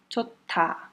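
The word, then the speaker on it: 좋다: Chota. Ó, a pronúncia é chota. O H, ele vai fortalecer o T e vai virar aspirado. Vai virar um T aspirado.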